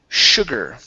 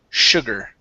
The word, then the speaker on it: sugar: All right, next up is the word sugar. Okay, in this word, the S is actually an SH sound. Sugar.